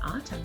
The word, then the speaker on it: autumn: So if I were to cover up this, that would just say kind of like someone's thinking But in autumn, there's a silent N.